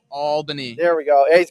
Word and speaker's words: Albany: Is saying you didn't say Albany correctly, but I disagree. You did say Albany correctly. So Denise, you're wrong. I've actually been told that before. How did it's ALL Albany. Albany.